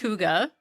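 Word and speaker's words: hygge: Huga is it's pronounced Huga as I'm saying it.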